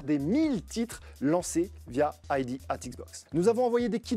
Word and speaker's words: ID@Xbox: On commence par le commencement, ID at Xbox, c'est le petit nom de Independent Developer at Xbox. Et oui, le A se prononce at.